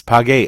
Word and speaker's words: pagué: So If you have a yo form that ends in go, you're going to change it to a ue to conserve the hard G sound. So pago, I'm paying, becomes pagué, I paid.